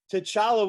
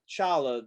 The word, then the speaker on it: T'Challa: i'm misremembering this but t'challa was like no it's the t is silent it's just challah that you know you forget the the apostrophe and everything i was like